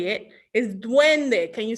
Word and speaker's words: duende: say at least how i say it is duende can you say duende at home it's d-u-e-n-d-e duende doing the good